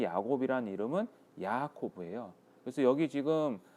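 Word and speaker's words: יעקב: 그리고 이 야곱이라는 이름은 야코브예요.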